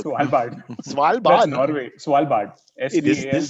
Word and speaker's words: Svalbard: I can't even pronounce it. Stalsberg. Svalbard.